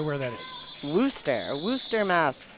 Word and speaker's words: Worcester: have no idea where that is blue stare Worcester Mass like I said will stay no we all Worcester in Ohio we don't believe in the middle